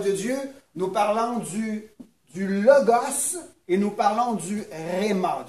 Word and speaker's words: logos: Là, on parle du logos. Les gens vont dire, non, on dit le logo. Mais en grec, c'est le logos. On le prononce comme ça.